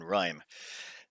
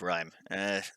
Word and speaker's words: Rime: oxygen not included on Rime. Now, there's been a few concerns about the pronunciation of the name, and by concerns, I was pronouncing it incorrectly. Rime. I was saying Rim instead of Rhyme.